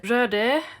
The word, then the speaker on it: Röde: Hello and welcome to this little quick review of the Röde, as it's pronounced, Smartlav Plus and the Boya BY-M1 and